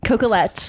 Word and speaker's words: Coquillette: Coquillette.